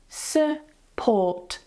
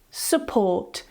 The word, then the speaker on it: support: And the last one with the spelling "u", we have "support", "support". The stress goes on the second syllable, so the first one, because it's unstressed, because it's weak, it has a schwa.